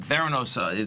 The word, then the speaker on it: Theranos: They had Theranos. That's the pronunciation. Yeah, I believe so, yes. Theranos.